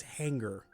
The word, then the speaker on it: hangar: Everybody hated that I pronounced it hangar and not hanger. And apparently, yes, it is hanger. No idea why they put an A there, but is what it is.